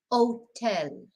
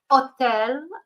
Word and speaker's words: hotel: So, of course, we don't pronounce the H's in Spanish, so we've got hotel, hospital.